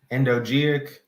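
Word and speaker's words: endogeic: along with the soil layers and those are pronounced anisic endogenic and epigeic and then here are the details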